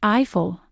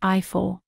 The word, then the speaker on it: Eiffel: In English, it's pronounced Eiffel, but in French, it's pronounced Eiffel.